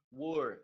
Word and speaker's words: were: Were, a pronúncia were, apesar de ter W-E-R-E, você vai pronunciar were.